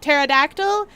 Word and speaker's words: pterodactyl: they're incredible demands why spell it pterodactyl when it sounds like pterodactyl oh boy do we